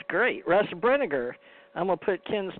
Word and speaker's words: Brinegar: you can call me Russ and he actually pronounced my last name right Brinegar that's great but Wow was raised in the